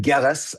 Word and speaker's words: Gillis: name there sir Yeah, it's Gillis Hard G.